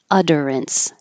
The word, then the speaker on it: utterance: s pseudo science and utterance these two T's will sound like a d or more technically the alvear flap because you're keeping your voicing on as you say uh so